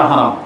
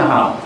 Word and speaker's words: হারাম: জায়েজ নাই এটা হচ্ছে হারাম কিন্তু তারা হারাম উচ্চারণই করতে চায় না ওই উর্দু থেকে আসছে পাকিস্তানে যেমন বলে হেরে শরীফ ইন্ডিয়ার ইন্ডিয়ানরা বলে তো বাঙালিরা ওইটাই শিখছে না হারাম মানে হচ্ছে সম্মানিত